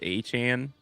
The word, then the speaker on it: Etienne: You know, he says his last name is pronounced Achan.